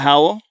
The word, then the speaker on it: HOWL: Tell me about HOWL.